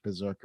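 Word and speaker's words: BRZRKR: want to find it it's BR R ZR KR Berserker yeah all right let let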